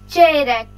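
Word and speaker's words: çeyrek: इसकी प्रोनाउंसिएशन फिर कह रही हूँ, इनकी प्रोनाउंसिएशन ना खराब किया करे। चेरेक, इसकी प्रोनाउंसिएशन पे ज्यादा गौर करें। चेरेक है क्वार्टर, पौना, क्वार्टर, चेरेक, चेरेक।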